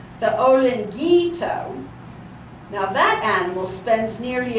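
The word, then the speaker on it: olinguito: So the word is spelled O-L-I-N-G-U-I-T-O. How would I say that? Olingito.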